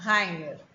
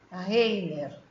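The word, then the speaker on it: Rainer: Eu já lhe disse que meu nome se pronuncia Heiner e não Reiner.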